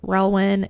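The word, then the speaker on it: Relwen: Relwyn, if you're only listening and not viewing the screen, is spelled R-E-L-W-E-N and has a little red like bird logo.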